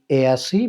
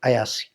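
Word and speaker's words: Eyasi: তো আজকে আমি যাব হচ্ছে রেবে কাপুর বাসা থেকে প্রায় 200 কিলোমিটার দূর যেটার নাম হচ্ছে লেক এসি বা লেক আয়াসি। দুইভাবে উচ্চারণ করা যায়।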